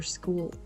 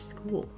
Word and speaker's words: school: The first one would be adding letter E before every word that starts with S. This happens, for example, with words like student or school or special, which are pronounced as student, as school, or as special.